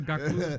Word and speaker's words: Gakpo: I like the way you pronounce it. Yes. That's Gakpo.